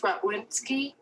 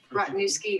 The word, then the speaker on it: Rottniewski: next is uh robinski um are you on i am and my name is rott newskey rottniewski i apologize for mispronouncing